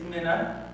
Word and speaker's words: Minne: an A but the E is correct it's just like Minnesota right say the state of Minnesota you can say my name but no my middle name is not soda it's just Min I was born in